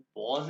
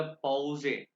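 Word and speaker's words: Pause: ये मैंने आपसे कहा ना कि हर वर्ड को बोले, जैसे कि इंग्लिश में पॉज है यानी कि ब्रेक, लेकिन ये ई को ए कहते हैं, ये जर्मन में हो गया पॉजे, पॉजे ब्रेक।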